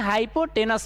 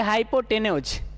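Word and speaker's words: hypotenuse: देखिए कुछ लोग इसे हाइपोटेन्यूज भी बोल सकते हैं और कोई इसे कह सकते हैं हाइपोटेनस भी कह सकते हैं, जिसको जैसे उच्चारण, हम इसको बोलेंगे हाइपोटेन्यूज, हाइपोटेन्यूज, ठीक है।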